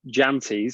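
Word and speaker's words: Jantjies: Henrik Jantes, because you actually have to pronounce the J in his name, not like Elton.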